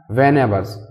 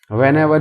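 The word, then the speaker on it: Vannevar: इट वॉज an analogue device invented by वैन averse. बस देखिए दोस्तों इसका प्रोनाउंसिएशन सब अपने अपने ढंग से अलग अलग करते हैं, बट आप मीनिंग पे ध्यान दीजिए। वैन एवर भी बोलते हैं, वन एवर भी बोलते हैं, बस।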